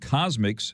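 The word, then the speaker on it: CosMc's: McDonald's has started testing a new place called Cosmics, that's spelled COSMCS, in Bolingbrook, Illinois this week.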